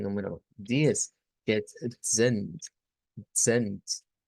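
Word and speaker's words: zehn: Esta debemos tomar en cuenta que la debemos, digamos, pronunciar esa Z como que es una TS, es decir, es esa africada, ¿verdad? En donde se une una T a una S.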